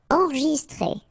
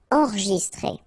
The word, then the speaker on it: enregistré: Enregistré. Okay, so here final with the accent, so E. Okay, T-R-E accent grave, accent aigu, it's très. Alright, so enregistré.